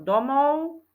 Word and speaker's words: domov: spev ale píšeme spev slovíčko domov čítame domov u A píšeme domov v na konci v a ešte rýchle